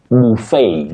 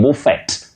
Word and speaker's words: buffet: When you talk about a meal that people serve, themselves to, you say buffet. Don't say buffet. Buffet? No. Buffet.